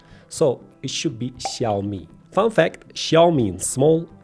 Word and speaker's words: Xiaomi: We’ve heard it all: Zaomi Caomi Shayomi iksiaomi. In Chinese, the ‘X’ is pronounced like a soft "sh" sound. So, it’s “shiaomi.”